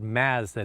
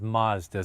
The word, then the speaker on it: Mazda: Having another look at the Mazda 3. Once again, for those of you who live in the United States, in Canada we call it Mazda, not Mazda, so I am saying it correctly.